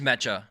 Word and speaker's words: mecha: pronounce it. It's like a Japanese word, I And believe. working on. It is mecha. I still say mecha though, because Look at the difference.